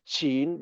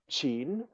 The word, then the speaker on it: Qin: family name of the aristocrats having created the Chin Dynasty chin in the system of transliteration called ping Ying p i n y i n is the name of the dynasty chin and the name of the family having created